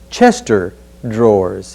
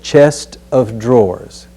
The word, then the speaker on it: chest of drawers: exercise chest of drawers just to point out that there's no such object as a chester drawers it's a chest of drawers we're going down now